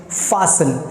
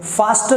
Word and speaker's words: fasten: You have to pronounce it fasten. There is a T which is silent. So from today onwards I would advise you guys, इस शब्द को आप लोग fasten ना बोलकर fasten बोलें.